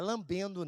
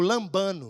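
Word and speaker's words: λαμβάνω: palavra receber é uma palavra grega lambando. Não é lambendo não. Eu não, eu não sei pronunciar o grego, mas eu tenho dicionário, né? Nós que é meio caipira, nós pesquisa. Fala comigo, lambano.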